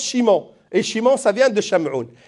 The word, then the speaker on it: Simon: shamoun Chimon on dit on dit Simon parce que le S dans les langues latines ça seit soit che soit S donc on l'écrit Simon et on le prononce Chimon et Chimon ça vient